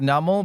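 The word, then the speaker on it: Numel: So it's like I always used to call it numl but it's like a camel and you pronounce it camel.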